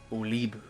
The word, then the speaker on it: Olibu: And now we meet Olibu. Oh yeah, that is how you pronounce it.